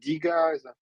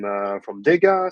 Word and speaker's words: Dega: Okay, so before we start, I just want to ask how to pronounce the Dega. Is that Dega? Is that Diga? Yeah, Dega.